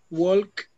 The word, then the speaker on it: walk: okay so we so we um so we walk to work okay walk with know s but the pronunciation is like w okay walk walk walk